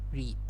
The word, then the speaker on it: read: Read is the original form is the past tense form is read as well. It's just that you have to change the pronunciation to become read.